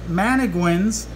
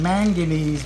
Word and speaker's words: mannequin: and then here are mannequins everybody pronounces them manganese but it's spelled mannequin or jaguar cichlid babies they're